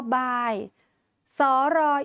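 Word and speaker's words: บายศรี: อ่าน ว่า บ อาย บาย สร อิ สี อ่าน ว่า บาย สี ไม่ อ่าน ออก เสียง รอ เรือ ค่ะ หรือ ตัว อย่าง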